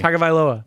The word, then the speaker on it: Tagovailoa: There's no way to pronounce it correctly. Tagovailoa.